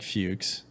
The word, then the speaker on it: Fuchs: And that's spelled like Fuchs. It's like Fox minus the K with an H.